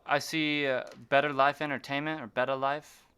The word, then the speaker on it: BettaLife: So I see BettaLife Entertainment or BettaLife. How do you Yeah, pronounce that? BettaLife. You got it right.